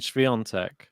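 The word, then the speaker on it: Świątek: That's not how that's spelled either, but that's how it's said. Lehechka. It's like me saying Sviontek.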